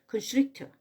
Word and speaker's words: constrictor: 제가 그 constrictor 요 발음이 참 어려웠었는데 그 tr 발음을 우리가 추라고 표현을 그 내용들에서 보면 그 추라고 우리가 그 발음 연습을 배우거든요. 그러니까 boa constrictor 이러면 훨씬 더 그 입 속에서의 그 혀 놀림이 편안해지네요.